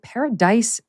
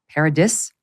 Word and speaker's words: Paradis: He went into the is it Paradise? It's spelled without the E at the end, I think. Paradis? Paradis. Okay, maybe it's French.